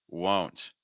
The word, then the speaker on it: won't: control your vow better versus the o sound won't won't again I don't need to do like whoa where you can hear my place just shoot forward and everything close I